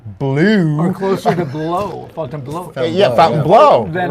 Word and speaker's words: Fontainebleau: Because really, it's not Fontainebleau. supposed to be. The French is like Fontainebleau. Yeah, we talked about that. It's like bleu. It's not really blue. Or closer to blow. Fontainebleau.